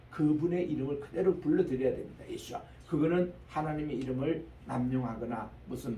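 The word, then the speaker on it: ישוע: 예수아라고 이렇게 발음하는데 그 다음 말에 보면은 이분이 바로 우리가 기다리는 한 마시아흐라고 이렇게 그들이 기다리고 있습니다.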